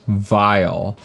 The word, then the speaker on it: Vial: guess it's not pronounced vl because that's a vial i guess it's pronounced vial vial is an open source